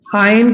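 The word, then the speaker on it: iron: इसमें आर नहीं बोलते हैं, आयरन करके बोलते हैं इसको, आयरन द क्लॉथ्स।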